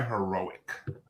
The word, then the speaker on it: Heroek: We are joined by Heroek, which I hope I pronounced. I'm pretty sure I pronounced that right, but yeah. It's Heroek, just like the adjective.